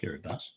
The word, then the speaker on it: Kiribati: Now, the Kiribati, pronounced Kiribati, actually has 3 island groups.